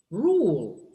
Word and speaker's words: rule: Rule. This is the rule here. That's a dark L.